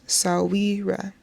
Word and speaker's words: Sahwira: In my culture, no dead person is buried without her Sahwira, pronounced Sahwira, a Shona word that translates to friend of